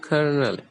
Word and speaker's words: colonel: yell it is pronounced Colonel so there is no R letter in the world Co